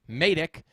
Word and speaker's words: Matic: As you guys know, that is how you pronounce the word. It is Matic.